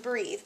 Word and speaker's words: breath: to talk about the difference between breath and breathe and these are kind of difficult because you can also make mistakes whenever you're pronouncing them as well because they are pronounced